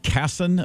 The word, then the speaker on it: Kasson: there's a woman um is it Kasson Minnesota is that how you would pronounce that town name I believe so good